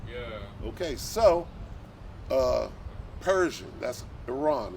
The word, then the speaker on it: Iran: Like, yeah, but it's not called Iran, it's called Iran.